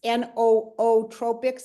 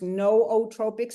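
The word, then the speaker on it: nootropics: you say the word it's no o Tropics it's pronounced no Tropics it has no o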